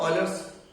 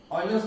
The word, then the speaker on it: Euler: And now see here, Euler's formula the pronunciation is Euler. Don't read Euler. It is Euler.